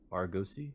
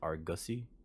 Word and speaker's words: Argosy: let's see golden argussy Argosy Argus Argosy or go see I keep pronouncing this in my brain as argussy like ussy um because my brain